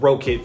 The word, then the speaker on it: Rokit: I'm gonna go with Rocket for today's video because I believe that's how you pronounce it.